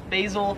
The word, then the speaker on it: basil: Pronounce this, or Americans would pronounce this as basil. However, basil. In Australia, it is pronounced basil.